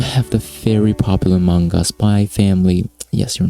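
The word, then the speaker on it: Spy × Family: this season we have the very popular manga spy family yes you're not supposed to pronounce the eggs by the way adopted into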